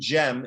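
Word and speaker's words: Cem: yeah so um so basic and gem is is is how the name is pronounced uh are the the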